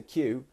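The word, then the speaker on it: queue: So Q. It sounds like the letter Q, and some people say it in all kinds of different ways.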